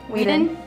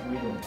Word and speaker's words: Whedon: Whedon. Okay. I'm gonna start by. Now let's cover just how different Zack Snyder's Justice League is from the version Joss Whedon finished in 2017. Joss Whedon.